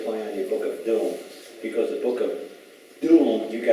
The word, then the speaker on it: Domesday: The Book of Doom is not about that. It's really called the Book of Dome. It's D-O-M-E. But you guys pronounce it Doom because it's a play on words, because in 1081, the conqueror,